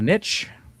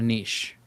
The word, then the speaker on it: niche: I call it a niche. It's also called a niche. I've heard it both ways. Yeah. If you look it up, it'll literally say both pronunciations are fine. One's USA, one's British UK, you know.